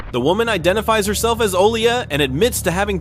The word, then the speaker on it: Olia: Yeah, try to find How do you say your first name? Vola? It's Olia. What is it? Olia. Olya?